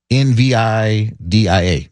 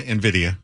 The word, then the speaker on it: Nvidia: not learn the and I'm believing this is pronounced uh Nvidia Nvi Dia. Oh yeah, Nvidia.